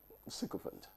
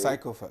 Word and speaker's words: sycophant: You'll be given two alternatives by Daniel Jones, but the one that has wider currency is sycophant. Is sycophant, not sycophant. Sycophant is a second option.